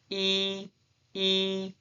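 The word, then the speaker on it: ㅣ: E E The pronunciation is E E.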